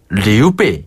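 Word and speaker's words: 刘备: 발음하면 였죠 산구네 그리고 우리가 조조 배웠잖아요 조 발음은 차오차오네 맞아요 오오 유비는 유비유비 관우 자 리우베 그렇죠 관우는 관위 관위네 재갈 공명은 주거량 주거량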